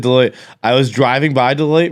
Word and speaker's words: Deloitte: to call it dalati deloitte when you work for a an accounting firm and the name of your company rhymes with douche it i mean it